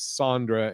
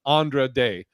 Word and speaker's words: Andra Day: was going on and little little trivial uh mispronounced my name as Sandra and you got it oh okay gotcha Andra day Andre day thank you because I I don't